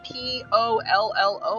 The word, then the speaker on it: pollo: When there's two L's in Spanish, it's pronounced with a y sound. I think that's how you say it. Because it's like chicken in Spanish is P-O-L-L-O, but it's not polo, it's pollo. And so it's that y sound.